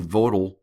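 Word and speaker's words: Vogtle: construction VC summer and votal reactors that's votal V GLE e reactors uh blee went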